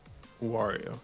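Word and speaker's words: Wawrow: Wario. He's like Mario, but he's a W instead of an M.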